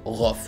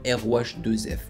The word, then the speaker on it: Rohff: Et sachez que moi j'ai du mal à dire Rof. Je sais pas pourquoi. Mon cerveau aime prononcer le nom de Rof comme ROH2F.